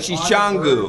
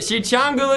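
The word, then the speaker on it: Sicangu: He's like Shishangu. That's it. Okay. You got it. Shichangu Lakota.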